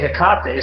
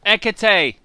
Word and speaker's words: Hecate: auger knots comes out and they say hikate so everybody starts saying you know yes something else yeah yeah so it's ekate everybody not a contact